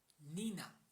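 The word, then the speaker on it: niño: सो लेट us start girl in English we call girl in Spanish we call it Neena Neena Neena the spelling of Neena is एन आई एन ई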